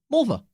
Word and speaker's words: Mulva: And a lot of those people are headed to the official Marfa Lights viewing area, which we'll call Mulva. Rhymes with vulva.